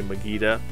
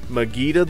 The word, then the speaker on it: Mageta: Now, I don't know if people pronounce it Mageta, like Vegeta in Dragon Ball Z, or if they pronounce it Mageta. I'm going to say Mageta.